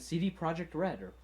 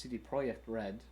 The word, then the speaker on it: CD Projekt Red: yep they're working with the artelsorian games crew mike pondsmith and cd projekt redder i guess technically it's pronounced cd project red because it's polish but they're working with